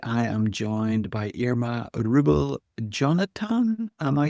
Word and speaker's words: Rubil-Jonatan: And today I am joined by Ma Rubel Jonathan. Am I saying that right? Yes. Yes, you are. Yeah, you're pronouncing my name really well.